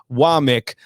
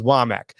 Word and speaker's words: Wommack: And yes, it is pronounced Wommack. I know it's spelled Wommack, but I was corrected on that. It is Wommack.